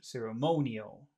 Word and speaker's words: ceremonial: when I say that when I say that word ceremonial which syllable has all of the sound ceremonial monal so we've got two tricky things in here we've got uh we've got the situation where we have to add an extra sound NE but then we have the the accented syllable Mo s can you say